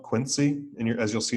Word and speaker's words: Quincy: in the bottom left John Quincy Adams spelt Quincy and you're as you'll see in your textbook but pronounced Quincy John Quincy Adams is here with the sideburn